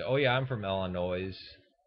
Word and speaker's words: Illinois: oh yeah I'm from Illinois no you're not because you pronounce the S uh and there's Chicago